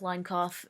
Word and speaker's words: Linkauf: So yeah, I was dreaming, and it was kind of like line cough, and um, if you want to know, it's spelled like Linkauf, line cough, and anyway, but yeah, and I was there, but I wasn't in elementary.